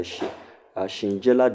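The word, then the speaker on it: Shigella: this bacterial dentry this one is caused by Shinjella decent. Shinjella is spelled S H I G E L L A Shinjella decent.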